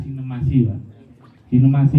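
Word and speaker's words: Cinemachi: ya pak ada cinemasi tulisannya cinemaci Tapi bacanya sinemasi ini channel pengganti HBO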